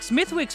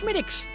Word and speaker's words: Smithwick's: Yes, it looks like Smithwick's, but it's actually pronounced Schmidt's.